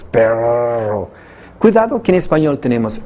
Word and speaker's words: perro: Perro, el que pronuncia las dos R's, perro.